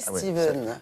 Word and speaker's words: Stephen: C'est Steven. Ça s'écrit Stephen mais ça se prononce Steven.